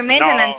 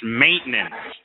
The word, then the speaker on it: maintenance: We don't have any other maintenance here in the property right now. I was just making the point that you're adding too many syllables. It's maintenance, not maintenance. You see, maintenance. Really fast. Say it.